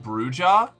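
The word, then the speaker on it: Brujah: Um, actually, it's pronounced Bruja. You're activating my OCD for language though. It's No, it's lit. No. Katana. Katana. Katana. Don't do this to me. I pronounced it bruha initially.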